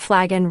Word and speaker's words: flagon: occurred to me that flagon rhymes with dragon and yes i really